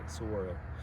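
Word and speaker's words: saguaro: yeah that's a Soro there's a g in there but you don't pronounce it Soro like the heila river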